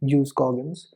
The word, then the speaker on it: jus cogens: The principle of jus cogens, yes, that is the actual pronunciation, jus cogens, means it's a peremptory law of international.